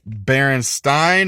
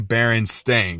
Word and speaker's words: Berenstain: is the Berenstein bears is it Baron Stein or Berenstain well it's actually Berenstain which is wrong and